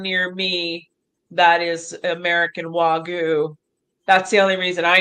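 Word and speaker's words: Wagyu: She's going to go into see how do you pronounce this cow to Japan. Um Wagu Wagu that's it.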